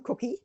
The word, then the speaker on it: Kucki: Anyway, yeah, my name is pronounced just like the edible one, Kucki, but it's spelled Kucki.